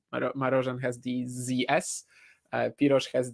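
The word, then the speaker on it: Marozsán: name by the way it's Z and S are the other way round if it was spelled like you wrote it it would be marosan whereas it's Maran um it's uh the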